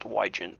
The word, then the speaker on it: Wygent: Last name is pronounced Wygent, but.